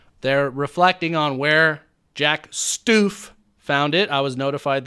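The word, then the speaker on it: Stuef: York Magazine article, they're reflecting on where Jack Stoof found it. I was notified that is how you pronounce his last name.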